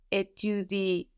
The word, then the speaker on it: étudies: So here, étudier is spelled E-T-U-D-I-E-S. But again, it just sounds like étudier without the E ending.